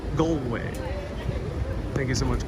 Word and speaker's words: Galway: of the rugby arena galway is pronounced goldway okay so a is o in ireland goldway thank you so much